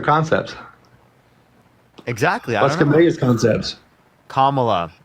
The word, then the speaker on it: Kamala: Kamala. If you say her name wrong one more time, I'm going to kick you from my stream.